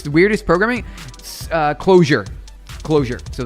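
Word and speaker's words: Clojure: Closure. So it's called uh closure like that. It's spelled weird.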